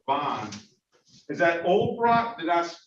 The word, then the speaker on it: Olbrot: Is that Olbrot? Did I pronounce the last name right? O-L-B-R-O-T, Olbrot.